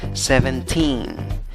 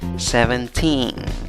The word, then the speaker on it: seventeen: es la sib a la sílaba que lleva la fuerza de voz la última la tercera contando de izquierda a derecha tiene nueve letras pero